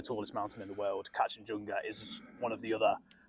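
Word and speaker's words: Kangchenjunga: last year he did catch and chunga that's definitely not how you say it yeah catch and junga I really shouldn't get that wrong being nepes I think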